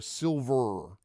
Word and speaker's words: Silvyr: this does have uh it is silver Tower and it's important to note it is spelled by the adventure designer s i l v yr so to be clear silver okay like very very